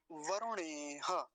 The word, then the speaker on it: वरुणेह: अगला शब्द देखिए वरुणेह, वरुणेह। हाँ जी, यहाँ पर रेफ पर कैसा उकार है? ह्रस्व उकार, छोटा ऊ है, तो जल्दी ही बोला जाएगा।